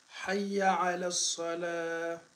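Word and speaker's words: حي على الصلاة: C'est très bien prononcé, mais commence hayya ala salat là, prononce ça, je vais voir. Hayya ala salah. Hayya ala salah. Hayya ala salah. Voilà, c'est bien prononcé.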